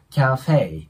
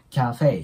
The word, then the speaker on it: カフェ: ま日本語で言うキャに近い感じでオッケーですキャフェですねで後ろもねフェだけじゃなくてフイていう 2 重ボになるんでアクセントを置いてキャフェていう感じで発音してもらえたらと思いますで次の When